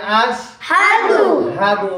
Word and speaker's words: أشهد: أشهد أن لا إله আশহাদু না আশহাদু কি আশহাদু হামজা সিন জবর আশহা জবর হা আশহা দাল পেশ দু আশহাদু আশহাদু আল্লা ইলাহা ইল্লাল্লাহু ওয়া